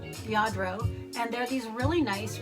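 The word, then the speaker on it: Lladró: I don't know if you're familiar with yardro it's spelled l l a d r o yadro and they're these really nice really expensive figurines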